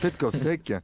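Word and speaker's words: Petkovšek: Petkovsek. Petkovsek, Slovène, est un excellent gymnaste.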